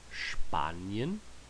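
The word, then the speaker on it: Spanien: Spain and Spanish but we don't pronounce that the same way we would in English it's gonna have that kind of that sh sound as if you're telling someone to be quiet or to shush someone Banyan banish good okay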